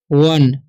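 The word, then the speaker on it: one: ठीक है, यहाँ पर लिखा हुआ है ओ एन ई, तो इसे हम पढ़ते हैं वन।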